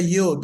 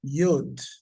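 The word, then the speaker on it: יוד: It's called the Yod. Eh? The name of that letter is Yod.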